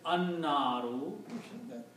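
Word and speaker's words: النار: So when you put al, one dhamma goes away and becomes naru, and you do not pronounce lam, instead you pronounce noon twice, annaru, because this is shamsi letter noon, so sound of lam goes away.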